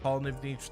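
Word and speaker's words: Pollnivneach: we go all right cool house is that Paul NIV Niche now that should make getting back there a lot faster and yes it is pronounced Paul nivnich it's very strange I forgot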